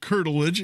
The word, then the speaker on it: curtilage: wondering about the uh principal of is it curtilage I'm not sure if I'm saying it right yeah curtilage it's the correct word yeah wasn't she also